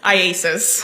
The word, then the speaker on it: IACIS: How do you say it? IASIS. IASIS.